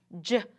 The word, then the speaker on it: gym: Gym. Remember, when that GY is together, what's what we call a soft G. You're right. It says the J sound like a J.